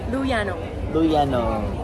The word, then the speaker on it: Lou Yanong: Lou Yanong!